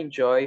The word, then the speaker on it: enjoy: Sue didn't really enjoy her trip. Olha aí o J no meio da frase. Enjoy.